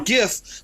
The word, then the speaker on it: GIF: the guy who said it's supposed to be je but the guy who did it doesn't get that Authority screw that guy I know said that's a that's a strong argument I get it but it's for graphic g g graphic it's a gif plus we already have